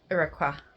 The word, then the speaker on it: Uiyqara: We're currently up to chapter 6, so I thought I would come in again and try and pronounce it correctly. Areiqua.